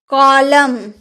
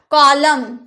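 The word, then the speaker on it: column: price silent होता है अगर आपकी इसके लास्ट में एम और एंड दोनों रहे एक साथ तो एंड का उच्चारण आप नहीं करेंगे जैसे कॉलम कॉलम वगैरा बनाते हैं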